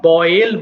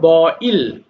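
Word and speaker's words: boil: বয়েল সিদ্ধ করা, এটা আমরা বয়েল বলি, বা শুদ্ধ হলো বইল।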